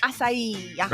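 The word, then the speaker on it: açaí: Uh a c a i. Ah, incorrect. Asai.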